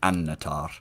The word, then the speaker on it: Annatar: the end of Silmarillion, a double consonant like that you stress, so like melon or annatar, and you always tap the R in the words.